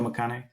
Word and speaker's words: McConaughey: Did I say it right? Am I thinking of Matthew Yeah. McConaughey? Okay, Joe McConaughey.